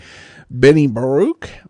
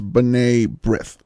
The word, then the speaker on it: B'nai B'rith: butcher it, please, apologies, B'nai B'rith, the Jewish charitable organization. The pronunciation, as I heard it on New York airwaves growing up, was B'nai B'rith. B'nai B'rith.